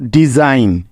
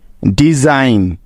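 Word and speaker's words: design: হবে হ্যাঁ একদম ঠিক এস এর উচ্চারণটা এখানে জ এর মত হবে যেহেতু এস টা এখানে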